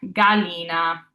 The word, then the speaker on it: gallina: For example, gallina, which means chicken, the animal, not the food. Gallina. We have that G followed by an A, making it a hard G.